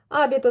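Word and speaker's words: hábito: Абіто. Тут на а стоїть рисочка. Значить, я не ігнорую її і ви вимовляю сильніше.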